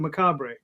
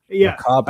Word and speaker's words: macabre: And the British do pronounce it macabre. Well, and I've heard it macabre. Oh yeah. Macabre. I hear that all the time. Macabre. But I never. In the U.S., it's pronounced macabre. Yeah, I always thought that that was a joke.